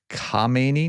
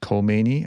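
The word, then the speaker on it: Khamenei: The Supreme National Security Council in Iran's top decision-making body last week Supreme uh leader Ayatollah Al Kini, not Kmeni. I mispronounced that before.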